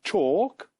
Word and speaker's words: chalk: In chalk, the letter L is written but not pronounced.